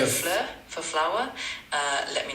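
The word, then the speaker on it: fleur: We can pick something like flur for flower. Uh let me know if that sounds good. What's f? What did you say for f? I suggested flur, which means flower.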